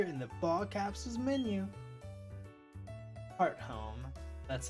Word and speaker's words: Hearthome: Hearthome. That's how it's pronounced. Okay, it's been a while. Hearthome.